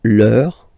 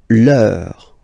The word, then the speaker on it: leur: And then leur is the same.